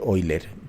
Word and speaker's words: Euler: la curva de eiler me han enseñado que se que se lee eiler pero se escribe Euler no entonces esa curvita